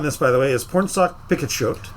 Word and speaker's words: Pornsak Pichetshote: I the the writer on this by the way is Pornsak Pichetshote. I looked up pronunciation. That's correct.